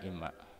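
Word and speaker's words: إمّا: kemudian masuk ilmu tajwid, nun sukun menghadapi mim, maka kemudian idgham. Tapi kemudian dalam tulisannya nunnya tidak ada, hilang lenyap digabung kepada mim. Orang membacanya kemudian imma.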